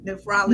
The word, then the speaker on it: nephrology: I was going to say that name wrong, didn't I? Nephrology.